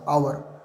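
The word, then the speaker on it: hour: तो आवर, इसको लिखा होता है एच लेकिन उच्चारण क्या होता है? आवर, तो उससे पहले एन लगेगा।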